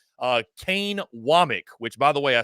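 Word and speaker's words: Wommack: saw on social media it's wck not wamack for all those out there it's wck so Kane wck and I'm glad I saw that because I would have butchered it uh Kane wck though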